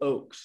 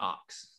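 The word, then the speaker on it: Ochs: Well, it's pronounced Phil Oakes, not Ox. Phil Oakes.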